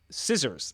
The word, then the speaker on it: scissors: But one that I didn't know is uh scissors, that the c in scissors is wasn't always there and it was a misplaced uh retroactive c.